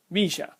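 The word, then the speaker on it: bella: also from Uruguay and you will most likely hear me pronounce my y's as a sh sound as that is part of how the Y is pronounced in Uruguay so let's take a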